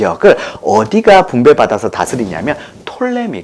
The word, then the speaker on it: 프톨레미: 그런데 다 똑같은 말이에요 그가 묵음 이기 때문에 쓸 때는 부터 이미 라고 쓰지만 얘길 때는 톨레미 라고 1 거든요 그래서 톨레미 나 포털